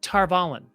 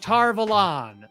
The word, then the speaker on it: Tar Valon: all the classic ones it's pronounced tarvalen and that's how they say it tara vollen they go to tarball and tarballin and then you get to the show and they're like tar velon and i'm like again